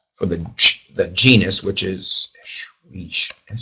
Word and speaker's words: Escherichia: coli, the E is for the genus, which is Escherichia. Spell it right? Escherichia.